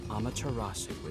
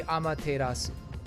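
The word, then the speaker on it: Amaterasu: reasoning is somewhat lacking I mean how how they're pronouncing it is is fine it's kind of the American way of doing it but I will say that it should be amasu amasu amasu but whatever Shadow R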